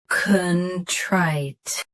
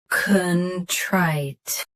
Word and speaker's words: contrite: Contrite. Stress trite. Keep con soft and clear. Contrite.